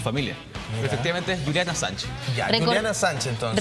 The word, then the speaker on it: Assange: Es Julian Assange, efectivamente. Julian Assange. Es una mezcla un poco entre francés Inglés.